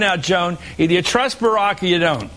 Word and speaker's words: Barack: as you point out Joan either you trust Barack or you don't right have I said it